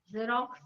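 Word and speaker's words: Xerox: x yeah yeah and if x is followed by eiy then it says the sound of z z okay is it becoming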